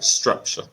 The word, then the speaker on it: structure: structure structure yeah so the emphasis will be on the first syllable structure structure structure okay structure